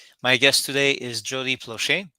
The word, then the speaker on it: Plauché: guest today is Jody plushie which I'm pronouncing as I would in French because I'm francophone but